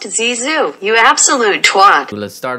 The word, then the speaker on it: Zizou: It's pronounced Zizou, you absolute twat.